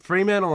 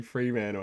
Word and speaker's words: Fremantle: It's a bit Fremantle.